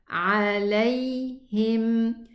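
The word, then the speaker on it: عليهم: This is a lean pronunciation. Lam fatha with a ya sukoon. Lay, lay. Don't say lay. Don't close and terminate the sound. The sound runs. It has rakhawa. Okay? So it runs a little bit.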